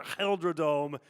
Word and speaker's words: GelreDome: GelreDome.